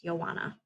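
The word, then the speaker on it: Joana: lady named joanna and i know that starts with j but that's how she pronounced her name it's joanna okay so joanna's chapter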